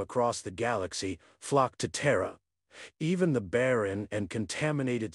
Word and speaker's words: Terra: Terra, pronounced T-R-U-H, or in the most